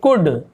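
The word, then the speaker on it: could: वैसे यहाँ पे देखिए कुड, एल यहाँ पे साइलेंट होगा, कुल्ड ऐसे नहीं पढ़ेंगे, कुड।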